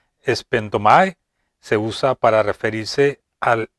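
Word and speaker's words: σπένδομαι: Esta palabra griega que se pronuncia espendomai se usa para referirse al derramamiento de una libación.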